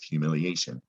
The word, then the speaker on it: humiliation: we're all familiar with humiliation humiliation a reminder that latin roots not spelled the way it sounds it sounds like asian or asians you gotta know it's ation recognize it when you're